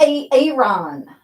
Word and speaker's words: Aaron: Tonight, I would like to talk a little bit about Aaron Smith-Levin, A-Aron. Why didn't you answer me when I said A-Aron? Because it's pronounced Aaron.